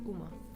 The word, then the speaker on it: uma: Uma coisa is uma.